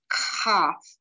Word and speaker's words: Kaf: So let's look at the first one, Kaf. It has a hard sound because it has a dogish in the middle. It sounds like a K transliterated with a K.